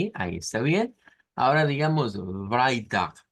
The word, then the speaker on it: Freitag: Ahora digamos Freitag, que se escucha más el Freitag, Freitag, con F, vea.